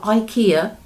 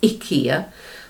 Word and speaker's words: IKEA: It's not IKEA. Sannis in Sweden has pointed out to me it's IKEA, so I shall try and say it like that from now on.